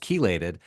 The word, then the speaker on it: chelated: h e l a t e d but pronounced kated um and and so like that one seems